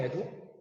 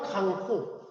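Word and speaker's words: 江戸: 에도? 그래서 일명 도쿠가와 막부라고도 하지만은 정식 명칭은 에도 막부. 이게 우리 발음으로는 강호. 일본 발음으로는 에도.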